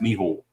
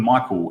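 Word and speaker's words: Mícheál: He's a customer as well and uh he's an Irish guy and his name is spelled Michael but it's pronounced Miho and you call him Michael and you will know you've done wrong.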